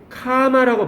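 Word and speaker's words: comma: 별거 뭐가 있겠니 맞아요 카마라고 발음하세요 이제 콤마가 아니라 카메라 이것도 얘기해 줄게요 잠깐만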